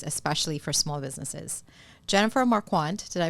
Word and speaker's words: Marquart: Jennifer Marquart, did I pronounce that correctly? It's quart. That's Quart. okay. Mar like Mars, quart like Yes. milk.